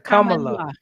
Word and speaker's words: Kamala: It's a Kamala.